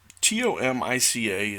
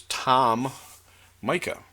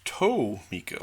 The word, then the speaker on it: Tomica: I pronounced them as Tom Micah other people told me no that's wrong it's tow mica like a tow on your foot Tomica another's say no it's tow meek like the word meek